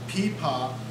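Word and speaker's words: pipa: is called the paa it's spelled p i p a okay and it's a Chinese instrument and and it's called peepa because a long time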